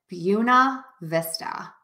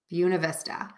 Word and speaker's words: Buena Vista: And we pronounce it Buena Vista. Buena Vista. So again, pronunciation changes oftentimes based on the area.